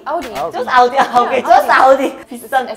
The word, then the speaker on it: Audi: I mean, just Audi. Audi. Just Audi. Okay, just Audi.